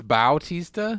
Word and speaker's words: Bautista: buts he saw teased about BAU oh it's Bautista yes I always thought it was but T